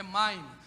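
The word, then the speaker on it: מים: Quando você sai das águas, água em hebraico está no plural, é maim. Maim é águas. Se fosse aqui no português, seria uma dissílaba. Ma-im. Ma-im.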